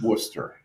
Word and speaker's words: Worcester: You're actually saying it wrong. It's Worcester.